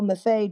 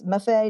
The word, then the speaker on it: MFA: Hearing Marilyn's story and her voice of how MFA drapery pattern started and grew was such an honor. Learning how the name came to be and how to correctly pronounce it. It's Mafay, not MF.